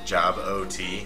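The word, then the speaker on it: Jobot: feel you too because people always call me job job ot oh rhymes with robot c robot top corner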